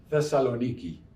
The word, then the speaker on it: Thessaloniki: i want to tell you about a a city in greece called salonika or as the locals pronounce it thessaloniki it's a very beautiful northern seaport in greece